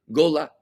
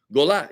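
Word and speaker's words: גולה: Gola. G-O-L-A. Gola. Gola means the diaspora. Gola means the exile. You know, when Jews were exiled into the diaspora from the Holy Land. Gola is the exile, right?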